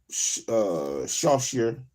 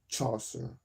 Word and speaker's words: Chaucer: been reading the assigned Shawshire or genetics. I know that's not how you pronounce that word. Shawshire. Saucer. The assigned Chaucer.